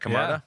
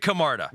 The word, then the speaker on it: Camarda: Is that how you say it? Camarda? Yeah. All right. I shouldn't have said it with a question mark. He deserves more than that. Jake Camarda.